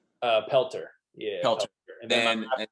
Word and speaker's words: Pelter: Pelter.